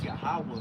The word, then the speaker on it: Yahawah: If you read it from right to left, but to translate it to English, for pronunciation's sake, it's Yahawah, which means he is or he is to Yeah.